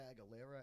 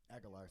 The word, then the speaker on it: Aguilar: We recorded with Christopher Aguilera at E519. Aguilar, sorry. I always say his name wrong.